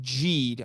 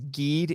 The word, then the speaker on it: Geed: 2017, Ultraman Geed. I used to think it was Geed. It's actually pronounced Geed.